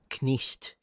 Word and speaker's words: knight: would have been pronounced knisht. So, the K was still pronounced, which is why you still spell it with a K.